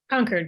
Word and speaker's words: Concord: it's the widows of Concord right am I pronouncing conquered correctly conquered correct conquered and that support group is what